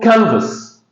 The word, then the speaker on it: canvas: So this word consists of two syllables. The first one is stressed. So the first syllable is a stress. So it's called canvas.